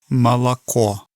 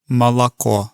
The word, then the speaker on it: молоко: So the first syllable is more like a ma. The second syllable sounds like a la, so it almost sounds like an ah sound. And then the third syllable, which has the stress, is the pure sound of the o. So it's ma, la, ko.